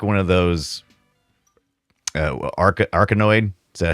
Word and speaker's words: Arkanoid: Arkanoid. Is that how you say it? Yeah. Yeah, Arkanoid.